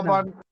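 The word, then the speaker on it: كِتَابًا: ত, খিত, কি ত, বা আলিফ দু জবর বান, আলিফটা উচ্চারণ হয় না, কিতাবান।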